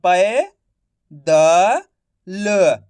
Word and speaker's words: पैदल: तो प का उच्चारण कैसे हो रहा है? प की मात्रा पै द ल तो मिलके बन जाएगा पैदल। ऐसे नहीं पढ़ना आपको पैदल। पैदल पढ़ोगे तो ए की मात्रा का उच्चारण निकल जाएगा।